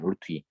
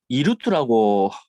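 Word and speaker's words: √2: 왜 제가 따라 어, 하라고 하냐면 2루트라고 읽는 아이들이 많아요. 되게 팁인데. 저 2루트가 아니라 이거 읽을 때 루트예요. 루트 2.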